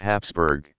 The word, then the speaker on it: Habsburg: of the house of habsburg they supplied Europe with a nearly uninterrupted stream of rulers for more than 600 years also spelled Hapsburg which is closer to the pronunciation Habsburg the name came from